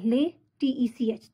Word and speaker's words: LaTeX: Latex. Sound kiski aa rahi hai? L-A-Y. Latech. Tech. Latex. So it's a Latex, not Latex.